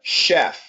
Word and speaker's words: chef: of CH and uh and so this word here we say David uh is a Chef not a chef but a chef right Chef yep and same thing here this is also coming from France so Michelin Michelin and